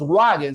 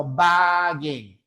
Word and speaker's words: Volkswagen: Bien, por ejemplo, tenemos la palabra Volkswagen. Se escribe con W, pero no decimos wagen, sino wagen.